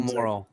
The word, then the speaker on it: Morrall: So Earl Morrall.